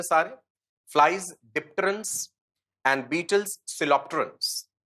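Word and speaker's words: Coleoptera: Flies डिप्टेरन्स and Beatles सिलोप्टेरन्स। कोइलोप्टेरा भी लिख देते हैं, सिलोप्टेरा भी प्रोनाउंस कर देते हैं।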